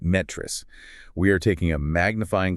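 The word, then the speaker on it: NTREIS: That's NTEIS, and for anyone not familiar, it's pronounced NETRIS. Right, NETRIS.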